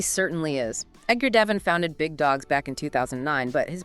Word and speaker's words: bigDAWGS: That's bigDAWGS, but remember, we say it like bigDAWGS.